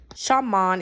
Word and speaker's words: Xiamen: Shaman is actually how you pronounce it.